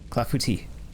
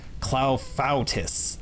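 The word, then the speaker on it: clafoutis: to eat strawberry fuus clafouti clafouti not uh what Google said how to pronounce clafouti was cloutis and I'm just like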